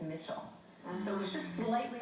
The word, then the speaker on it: Michel: would pronounce that is michael or michelle right he pronounced it as mitchell so it was just